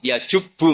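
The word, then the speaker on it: يجبّ: Santri akan tahu ini bacanya yajibu apa yajubbu.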